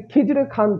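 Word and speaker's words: Khizr Khan: খিজরে খান বা খিজির খান, যে নামই আসুক, যদি খিজরে খান থাকে বা খিজির খান থাকে, খিজরো খান থাকে, নামের একদম বিকৃতি ঘটিয়ে দেয় ওরা, ওটাই অ্যান্সার হবে। আসল উচ্চারণ কি হলো? খিজরে খান।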